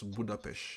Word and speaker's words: Budapest: am, and I asked him, how do you pronounce Budapest?